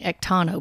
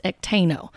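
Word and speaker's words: ekteino: word actino and you you're going to hear her pronounce it a little different ektano but it's actino and i double check that from a few different sources that are able to pronounce greek and so when she's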